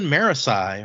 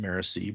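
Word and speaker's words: Marasi: like that's true and her cousin marasai or marissee i think i think i've heard brandon actually pronounce it marissa but it's always i've always said it marisa in my head so whoever whatever whatever you like she looks down demurely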